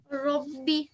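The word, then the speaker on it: رَبِّ: So you can see that the ra is carrying fatha on top. Therefore, we have this ra, it would be a thick ra. So make sure you pronounce it thickly. So try again. Rabbi.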